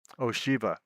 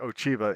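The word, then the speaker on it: Ocheeva: There's somebody named Ochiva in the game, and nobody knows how to pronounce the CH. So some people call them Ochiva and some call them Oshiva. And again, some of the same NPCs in this game go back and forth on it, as they do on Cheydinhal.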